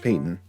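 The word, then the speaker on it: Paton: We have Patton too, you know, George Patton. Oh, he's not. I mispronounced his name. I don't know, it's just spelled weird. But apparently it's George Payton. I always get tricked up by that.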